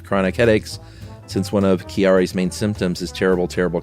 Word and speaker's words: Chiari: Chiari I think it's c-h-i-a-r-i and I bet you it's not Chiari you gotta say it like an Italian person Chiari malformation syndrome and